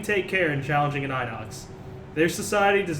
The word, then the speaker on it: Inox: all right is this is this pronounced Inox I think it's Inox all right could be enox Inox both ways the idocks are A